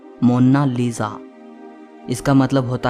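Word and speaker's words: Monna Lisa: कोई इसे मोनालिसा कहता है तो कोई मोनालिसा कहता है। लेकिन इटालियन में इसकी करेक्ट प्रोनाउंसिएशन है मोनालिसा।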